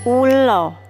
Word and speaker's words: ula: Sedangkan dalam bahasa Jawa, hewan ini biasa disebut ulo. Tulisannya U-L-A, A-nya dibaca O, ulo.